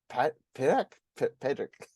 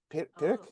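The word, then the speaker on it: Peadar: always forget the name Patrick it's spelled p e a d r a i c pic Patrick like the equivalent Irish equivalent to Patrick but I'm gonna call him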